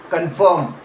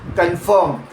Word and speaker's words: confirm: Confirm. Stress lands on the first second syllabus. Confirm. Not confirm.